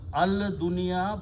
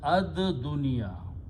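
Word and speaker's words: الدنيا: It will become al dunya, but in pronunciation, lam is silent. So is pronounced as ad dunya.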